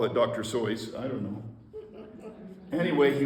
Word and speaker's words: Seuss: just that way okay it rhymes with voice so and he always would refer to himself when he was being Dr Seuss as Dr soy and he was Dr